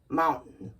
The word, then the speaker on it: mountain: over here no it's where we kind of swallow the tea and we just say curtain curtain Fountain fountain or mountain mountain got it let's review